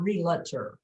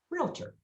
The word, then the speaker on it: realtor: you want to be two syllables okay sure not real enter or realtor just realtor realtor realtor and the first syllable is longer realtor realtor guys it's not realtor okay just just to make that clear it's not realtor it's realtor guys even realtors say it wrong so this is this